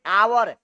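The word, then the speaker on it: hour: अब तीसरा कॉन्सेप्ट देखिए, तीसरा क्या कहता है कि यदि नाउन का पहला अक्षर एच हो और उच्चारण अ हो तो वहां एन लगता है। जैसे देखिए आवर, एच ओ यू आर, आवर होता है, आवर का मतलब क्या होता है, घंटा।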